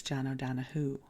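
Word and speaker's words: O'Donohue: Oahu and and listen I would have pronounced his name j Oahu but in the book they say it's Jano Dano in the audio book so that's why I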